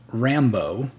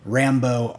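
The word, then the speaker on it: Rambeau: a woman named Monica Rambo if I'm saying that correctly not like Rambo the guy that shoots up everything Rambo r-a-n-b-e-a-u I think it's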